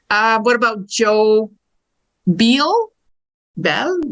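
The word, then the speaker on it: Beall: Bel. B E A L L. That's right. It It looks like be all, but it's You said it right.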